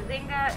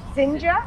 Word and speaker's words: Zinga: And it was Zinga and... Zinja and Zulu.